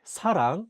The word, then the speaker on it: 사랑: In the Korean word 사랑, which means love, the 시옷 is at the beginning of the word. Therefore, it's pronounced as 스.